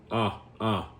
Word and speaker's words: a: So A, it's not the letter A, it's ah. So that's how we pronounce it. That's even when we say the alphabet, the letter A is not A, it's the letter ah, right?